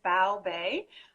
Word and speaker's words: Bao Bei: Technically, there are several pronunciations of the word, but how we say it here is Bao Bei. So Bao, B-O-W, and Bei, before there was a Bay, right? B-A-E. So Bao Bei.